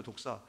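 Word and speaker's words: δόξα: 그리고 헬라어로는 독사라는 말입니다. 우리 독사 있죠? 독사 같은 발음입니다.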